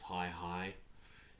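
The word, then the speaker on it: Hai Hai: I think that's pronounced Hi Hi, H-A-I, Hi Hi, I'm going to call it, on the back cover.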